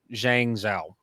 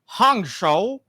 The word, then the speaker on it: Hangzhou: Legends team for the 2022 Asian Games in Zhangzhou. Pretty sure I'm pronouncing that incorrectly, but I'm like 50% sure I pronounced that right.